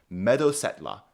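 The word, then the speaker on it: meodosetla: hall the me benches meetla is how this word is pronounced off so shield shaving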